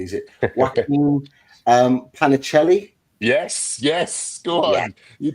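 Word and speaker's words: Joaquín Panichelli: Another one from France, this time from Strasbourg, and I need to pronounce this name correctly. Is it Joaquin Panicelli?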